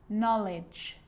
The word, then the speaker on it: knowledge: A K is not pronounced when it comes before an N, like knife, no, knee, knock, not, knowledge.